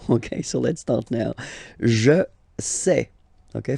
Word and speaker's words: je sais: Je sais. Okay, final S not pronounced, and then you get this A-I, E.